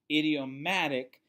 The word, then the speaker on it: idiomatic: So idiomatic phrases, it's spelled IDIO, but it's not like an idiot, but idiomatic.